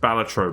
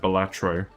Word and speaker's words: Balatro: Apparently it's actually pronounced Balatro, but everyone calls it Balatro.